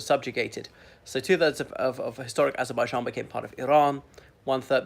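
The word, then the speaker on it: Azərbaycan: So sometimes I try to do the Azerbaijani pronunciation, Azerbaijan, because there's this backwards E, like which you need to smile right before you pronounce it in order to render it correctly.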